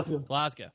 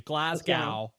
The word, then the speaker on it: Glasgow: actually reside in now glasow and you have to say it like that glasow glas sorry glas I'm just kidding yeah you could say it like us Americans do Glasgow GL right now yeah